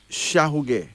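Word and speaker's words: Shauge: Our first male name is Shahuge. Shahuge. S-H-A-U-G-E. That's S-H-A-U-G-E, pronounced as Shahuge.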